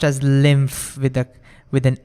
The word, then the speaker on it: lymph: And it's pronounced it's pronounced pronounced as lymph with a with an f over there.